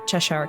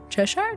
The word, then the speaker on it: Cheshire: It was like the top of that metal nail was smiling me like some ches cheshure cat. Cheshire. Am I saying it right? Cheshure. Cheshire.